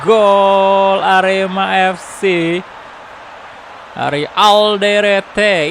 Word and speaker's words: Alderete: Ini bacanya kayak gimana, boy? Alderete atau Alderet gitu. Halo Michael Krisna. Welcome, welcome. Baik bro kabarnya. Alhamdulillah. Indonesia udah ada apa tuh? Udah ada darurat takabur. Alderet, oke bacanya Alderet ya.